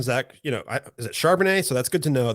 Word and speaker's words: Charbonnet: should be higher in ranks are you a Chardonnay believer or not so before I dove in I thought to myself like I'm not really interested in Zach you know is it charbonnet so that's good to know that's how you